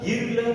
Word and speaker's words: girl: Okay, जैसे कि GIRL, इसे अपन गर्ल, गिरल क्या पढ़े दोस्तों? इसका करेक्ट फोनेटिक प्रोनाउंसिएशन है गर्ल, गर्ल।